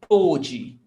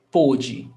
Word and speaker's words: pôde: E pôde. So pay attention to the pronunciation. Pó, ó, pode, pôde, pô, o, pôde.